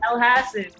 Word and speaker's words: Elhassen: say it albe how do you say abby el hassan oh there we go i appreciate you correcting